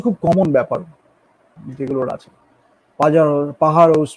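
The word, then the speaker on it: Pájaros: পাহাড়োস বলে একটা আছে, মানে পাজারোস অনেকে দেখতে লাগে পাজারোস, বাট যেটা উচ্চারণটা হয় না আর কি।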